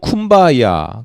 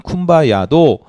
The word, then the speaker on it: 쿰바야: 아프리카 흑인들이 미국 발음을 했는데, 그러니까 미국식 영어를 발음을 했는데 발음이 잘 안 돼요. 그래서 된 발음이 쿰바야이고 원래 의미는 come by here, 여기 오시옵소서 이런 뜻이. come by here가 here이 이 흑인식 발음으로 쿰바야가 된 거예요.